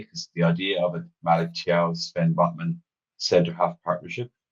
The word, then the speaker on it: Malik Thiaw: Okay, that is Malik Thiaw, which we're pronouncing like pros to. Irishmen pronouncing names correctly. Who'd have thunk it? That's how you say that.